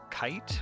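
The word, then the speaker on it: Kaight: And this is by two users, Kite, which is spelled K-A-I-G-H-T, and Corrupted Audio is the second one.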